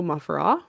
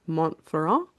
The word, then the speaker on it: Montferrand: So that's the story of Big Joe Mufferaw, which apparently was a mispronunciation by English back in the day, so more accurately, Joseph Montferrand.